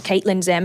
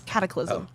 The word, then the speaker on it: Cataclysm: Nothing about my name looks like it says Caitlin Zim. Like, if you go on to see what... That is pretty stupid. Caitlin Zim? Caitlin? It's Cataclysm. I thought it's even spelled like it.